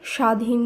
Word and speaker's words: স্বাধীন: পরবর্তী নিয়মে আমরা জেনেছিলাম শব্দের প্রথম বর্ণে বফলা যুক্ত থাকলে সেই বফলার উচ্চারণ হয় না তাই স্বাধীন স্বদেশ জ্বালা তক বফলা